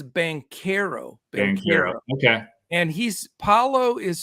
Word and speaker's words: Banchero: this league and I I called him band chero for a while but it is bankero okay and he's Paolo